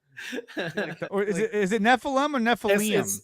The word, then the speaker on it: Nephilim: Or is it Nephilim or Nephilim? It's actually, to pronounce it correctly, is Nephilim, because Eem is plural, but Nephilim is fine because it's Americanized.